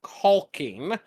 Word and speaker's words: caulking: But I also live in Texas, where whenever people are buying caulking, they generally pronounce that with an O and no L, so I cannot tell